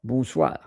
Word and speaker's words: bonsoir: SOIR, bonsoir.